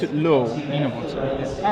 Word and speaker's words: Enevoldsen: So Thomas Enevoldsen. Enevoldsen. I think you have to pronounce it low. Enevoldsen.